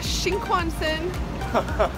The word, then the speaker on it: Shinkansen: took the Shinkansen. Did I say that right? No. What is it? How do you say it? Shinkansen. Shinkansen.